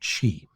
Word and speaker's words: qi: Chinese have a term called qi. Some people pronounce it ki.